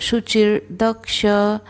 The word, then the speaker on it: शुचिर्दक्ष: अब द के ऊपर जो रफार है तो द के पहले हम र का उच्चारण करेंगे, च छोटा है, तो शुचिर्दक्ष उदासीनो गतव्यथः।